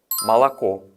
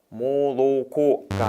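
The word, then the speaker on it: молоко: 있는들은 아로 바뀝니다 그 그니까 정확한 러시아 발음은 말라코 말라코입니다 모로코가 아니라 말라코 지금 들리시죠 제가를 강할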